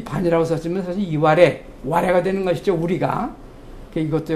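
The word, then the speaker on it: 磐余: 그런데요, 같은 식으로 일본 서기를 보면은 일본 지명에 가령 여기 이제 맨 위에 나온 게 이제 우리식으로 요새식으로 발음은 반야라고 발음하지만은 사실 이것은 이와레라고 일본 사람을 부릅니다.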